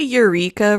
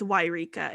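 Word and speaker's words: Yreka: they should move to wairika california to be closer to her mother's family so why did you say eureka really weird no it's why rika it's why i was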